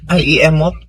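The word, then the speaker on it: IEMOP: Then after that, Transco, NPC, PISAM, PEMC, uh, EM I do you say emop? How do you say that? I mop.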